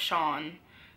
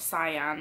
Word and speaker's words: Sian: know from my channel it's pronounced Shaun not cyan or CN which a lot of